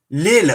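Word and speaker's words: Lille: now e b uh is it pronounced d lil okay okay sorry i had it wrong um all right oh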